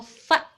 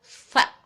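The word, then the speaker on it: ف: Kalau fa itu digigit lidahnya, agak digigit sedikit, fa.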